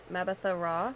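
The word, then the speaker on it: Mbatha-Raw: up is it juju mabatha raw well when it's like this you don't pronounce the m and i only know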